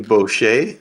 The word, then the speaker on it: Boschy: Shannon Boucher, am I pronouncing it right this time?